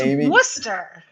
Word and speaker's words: Worcester: First of all, yeah, it's Worcester. Actually, it depends. If you were born here, it's Worcester, which means there's no R at the end.